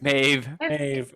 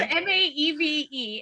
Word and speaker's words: Maeve: right maybe mavis no it's me me me maeve okay m-a-e-v-e and i i have heard it pronounced maeve maeve okay uh number three is